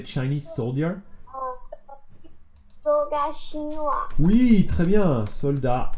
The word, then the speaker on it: soldat: You know, in French we say soldat. Soldat, soldier, soldat. How to say Chinese soldier in Luna? Do you know how to say Chinese soldier? Soldat chinois.